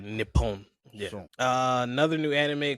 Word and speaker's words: Nippon: Yeah, when you're uh pronouncing words that have the same letter repeatedly, you got to like slightly pause and drag. So, like Nippon.